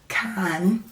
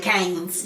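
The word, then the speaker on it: Cannes: that you got to say it like that now yes we I had to look it up cuz I kept calling it canes I mean that's what but it's KH but no that's crazy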